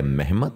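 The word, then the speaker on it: Mehmed: उनका जो बेटा है मेहमद बे वो जर्मिया नियों का सरदार बना और यहां पे आपको बताते चलें कि तुर्क जबान में मोहम्मद को महमद प्रोनाउंस किया जाता है जैसा कि महमद बुज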